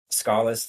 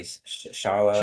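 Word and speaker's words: Schala: then after that, later in the game, you get Scala's theme, or some Yep. people say Shala, Shala but or Scala. We yeah, pronounce it how we pronounce it because that's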